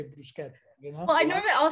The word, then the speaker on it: bruschetta: By the way, you should say bruschetta, you know?